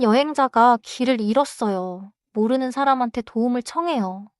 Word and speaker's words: 길을 잃었어요: 길을 잃었어요는 글자 그대로 읽지 않아요. 일의 히웃은 소리가 안 나요. Oh, so I should drop the final H sound and say 길을 잃었어요.